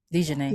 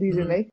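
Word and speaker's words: DiJonai: Is Dejanay Carrington? Is that how you say her first name? Dejanay. Yeah, Mm-hmm. Dejanay. Wow, butchered.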